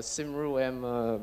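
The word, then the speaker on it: Cymru: extinct I got a yeah and that's a sim room BIF pronounced like that it means live long Wells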